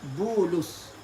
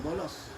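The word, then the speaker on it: بولس: Yang keduanya Bulus, ba waw lam sad, Bulus. Bukan bolos.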